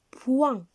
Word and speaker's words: point: Ici, dans le mot point, on a la lettre T qui est muette. On ne la prononce pas.